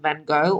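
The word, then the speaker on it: Van Gogh: is we're singing about Vincent Van Go or Vincent Farh that's probably the proper pronunciation.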